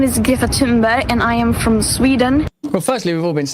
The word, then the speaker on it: Greta Thunberg: My name is Ga Timber and I am from Sweden. Well, firstly, we've all been saying it wrong.